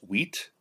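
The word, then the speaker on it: huit: the numbers now uh in french eight is wheat wheat wheat h-u-i-t in german it's uh uh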